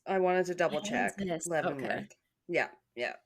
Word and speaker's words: Leavenworth: Leavenworth. Okay. Yeah. Yeah. You're saying it right, though.